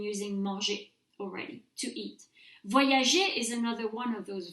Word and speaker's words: voyager: Again, the explanation is traced to the pronunciation, because if you hear the infinitive, voyager, that's a soft G, j'ai voyagé.